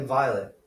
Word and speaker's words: violet: I think it was violet. Yeah, they might not pronounce the T.